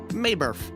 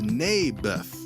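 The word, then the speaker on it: Naboth: that's what i said mayberff i think you're saying it wrong his name was neybeth ah bless you never mind nabith lived on a piece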